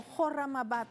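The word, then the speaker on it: Khorramabad: Es el ataque de Estados Unidos Israel a edificios residenciales en Comarrabat o Jorramabat, como se pronuncia.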